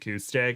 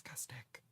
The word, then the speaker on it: Kustick: My last name is Kustick, but people usually pronounce it Kustick, and I'm just like, it's Kustick.